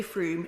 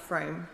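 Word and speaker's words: Frome: for The house's information it's definitely FR not FR I don't think my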